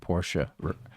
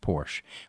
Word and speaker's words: Porsche: And that's why most people here now, put that E at the end, Porsche, rather than just Porsche.